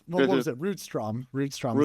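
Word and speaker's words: Rydström: Rudstrom is the correct pronunciation.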